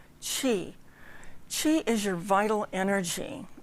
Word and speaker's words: Qi: So, if you haven't tuned in before, Qigong, Qi, the first part of the word is Qi, and you pronounce it as if you were saying cheese, Qi.